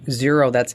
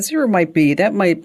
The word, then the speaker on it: Xero: There's also a program called Xero. It's spelled with an X, Xero, and that's free for small businesses.